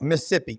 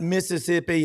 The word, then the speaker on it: Mississippi: whbq and super talk Mississippi Jake and uh yansy both live in the Magnolia state it's not Mississippi it's Mississippi it's it's two syllables I know how to say it yansy got Jake